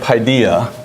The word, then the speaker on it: Paideia: you is the word Paideia. P-A-D, I'm sorry, spelled it wrong already. P-A-I-D-E-I-A. I say it's Paideia. I don't know if that's exactly the right way to say it.